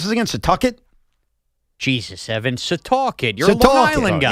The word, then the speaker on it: Setauket: Rob is in, how do you pronounce this again? Setauket? Jesus, Evan. Setauket.